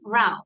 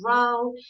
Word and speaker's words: row: So when we talk about a boat, la acción de remar, to row, Row. the pronunciation is row. Row. But when we say row, Row. Row. okay, a noisy argument or fight, una pelea, okay, ruidosa, sí, una discusión ruidosa is a row, okay? So the pronunciation changes according to the meaning of the word, okay?